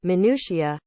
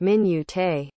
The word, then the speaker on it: minutiae: to use the word minutiae every chance he got he worked into every conversation at every opportunity only he pronounced it like min yute these all seem like